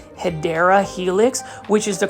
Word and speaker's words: Hedera helix: here PL foldies I just picked up a hedra helix and as you can see right here beautiful